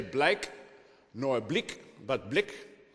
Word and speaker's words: Blyk: uh launching imminently in the Netherlands this is Blick that's how it's pronounced about myself I also serve on the